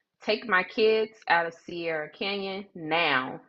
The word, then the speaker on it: Sierra Canyon: So not CR Canyon, it's Sierra Canyon.